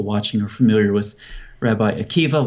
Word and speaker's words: Akiva: I'm sure most people watching are familiar with Rabbi Akiva, once again spelled with a B-A at the end, but pronounced with a V.